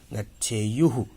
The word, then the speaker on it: गच्छेयुः: प्रथम पुरुष गच्छेत, गच्छेताम, गच्छेयुः। थू नहीं, य है, य। गच्छेयुः।